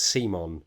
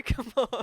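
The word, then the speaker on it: CMON: how we're saying that they pronounce it as simon but i just i can't bring myself to do it simon doesn't sound good no i'd rather do it wrong and say come on it's like the the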